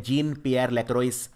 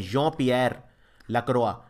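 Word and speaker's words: Jean-Pierre Lacroix: क्योंकि जं पियर लकवा इसको वैसे लिखते हैं जीन पियर लेक्र लेकिन प्रोनाउंस करते हैं ज पियर लक्र ये है इस वक्त हेड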